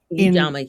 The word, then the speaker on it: Ujamaa: So you mentioned, I'm not gonna pronounce it correctly, Ujamaa or Ujamaa. Ujamaa, yes.